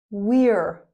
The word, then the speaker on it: we're: We are, we're, here.